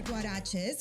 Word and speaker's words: Guarexez: You started your store Guaraches, which is spelled Guarexez, which, by the way, the X is CH sound.